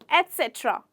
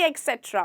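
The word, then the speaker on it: et cetera: चलिए शुरू करते हैं पहले वर्ड से, जो कि है एटसेट्रा। एटसेट्रा, ना कि एक्सेट्रा।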